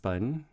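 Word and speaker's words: 本: And that's pronounced bun.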